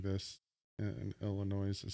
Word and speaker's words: Illinois: You want to meet in Missouri or Illinois?